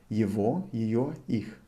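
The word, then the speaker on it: его: some point you will pronounce the way i'm pronouncing this so evo and well the possessive person will pronounce for evo for he she and it they would be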